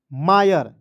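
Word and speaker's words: mire: और याद रखना दोस्तों आई आर इ जब भी किसी वर्ड्स के अंतिम में आएगा इसका उच्चारण आयर के रूप में करना है तो इसमें आयर जोड़िए तो क्या हो जाएगा मायर होगा कि नहीं आप ही बताइए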